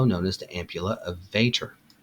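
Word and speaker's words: Vater: as the ampula of Vader note not that VOR this one is spelled v a t r the pancreatic sphincter of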